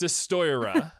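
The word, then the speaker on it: Destoroyah: Destroya. It's hard to pronounce. Beautiful pronunciation. No, you were perfect. Destroyera.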